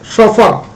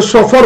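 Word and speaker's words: chauffeur: Sport the correct spelling, चौफा यानी driver, C एच ए U double F ई यू आर, शोफर, इसे शोफर बोलते हैं।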